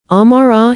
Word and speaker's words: Amara: He learned to say my name correctly, not the easy American shortening that strangers defaulted to, but the full sound of it, the way my mother said it. With the gentle emphasis on the second syllable. Amara, he practiced until he